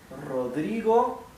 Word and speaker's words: Rodrigo: practicing the are as you will see now Rodrigo that's my given name Fair Raider okay Rodrigo